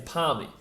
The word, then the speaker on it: parmi: parmigiana but it's actually it's it's it's a palmy palmy that's how it's spelt p a r am i it's upon